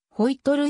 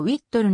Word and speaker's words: ホイットル: 空軍士官技術者発音はホイ取るよりもウィットるの方が近いターボジェットエンジンの先覚